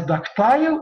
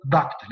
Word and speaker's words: ductile: you can pronounce it as ductile or ductile.